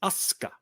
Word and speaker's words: Asuka: The whole thing with Japanese U's are almost never pronounced. Like it's not Asuka, it's Asuka. Like if it's in there, but or like Mas.